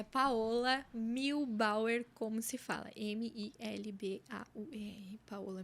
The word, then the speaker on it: Muehlbauer: O meu arroba é Paola Milbauer, como se fala.